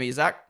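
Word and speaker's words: Isack: My logic is, he pronounced his name Isaac. His name is spelt differently to Isaac. It's spelt the French way.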